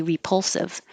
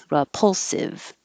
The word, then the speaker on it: repulsive: unequivocal same thing here you can say repulsive but most native speakers are going to change that to an uh repulsive this is here because